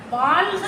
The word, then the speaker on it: வாழ்க: இந்த அளவுல இதுல ஏதாவது உச்சரிப்புல எதுவும் உங்களுக்கு தெளிவா இருக்குது இல்லைங்களா? இப்ப நாம இந்த வாழ்க வளமுடன் போது இந்த இல்ல வந்து நம்ம வாழ்க அப்படின்னு நம்ம உச்சரிக்கணும் இல்லைங்களா?